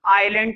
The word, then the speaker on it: Ile: कहां तक पहुंचाएंगे, किसी आइलैंड तक पहुंचाएंगे। और इनके पास वाला, सबसे पास वाला आइलैंड था आइल एम्स्टरडैम। स्पेलिंग लिखी हुई है ILE, आइल एम्स्टरडैम।